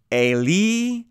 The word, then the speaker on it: Eli: In the Matthew account, we see the same wording, just with the more Hebrew pronunciation. Eli, Eli, lema sabachthani.